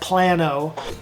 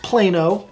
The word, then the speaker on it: Plano: Plano is more established sometimes people call it Plano idiots but it's pronounced Plano it's more established you drive through some of